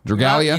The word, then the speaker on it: Dragalia: Dragalia.